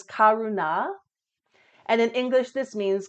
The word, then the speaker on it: Karuna: And the Sanskrit pronunciation is Karuna.